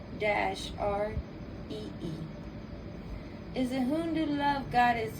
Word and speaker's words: Gauri: Gauri, and the pronunciation, but how you spell Gauri is Gauri, and how you pronounce it is Gowree.